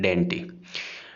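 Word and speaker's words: dainty: इसको प्रोनाउंस करना है डेंटी।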